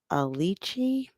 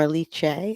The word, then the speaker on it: Aliche: I'll share I'm not I think I'm pronouncing her name right it's Tiffany alichi or aliche I believe yeah the last part